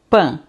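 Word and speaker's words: pain: A N vai também ter o som, vai ter o som de ã. Então eu vou dizer pan. Pan, que é pão.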